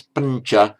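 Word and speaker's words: pañca: Before a palatized consonant, it automatically, you didn't say pancha, it's pancha, because the tongue automatically goes to the same place where the ch comes out. It palatizes itself, pancha, pancha, meaning 5.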